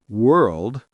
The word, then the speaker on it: world: Dark L words, L comes at the end of the syllable, pronounced like O. Curl, girl, world, gnarl, pearl, carl, snarl, swirl, twirl.